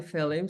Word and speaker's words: Phelim: 7th was written by Kim mallier say hi fim so we know who you are hello gr 10 out of 10 for pronouncing my name properly oh and um and